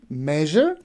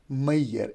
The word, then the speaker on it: measure: television it can be pleasure it can be measured now this is the sound that most of like uh the people mispronounce right like we have a word p-l-e-a-s-u-r-e